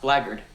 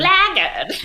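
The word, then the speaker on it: blackguard: You blackhearted black guard. And look at this snow white angel. I have recently learned that it's pronounced blard.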